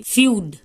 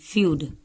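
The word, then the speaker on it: feud: महसूस करना कुछ भी फ्यूड एफ ई यू डी फ्यूड आधा फ रहेगा डी को ड पढ़ते हैं फ्यूड एफ ई यू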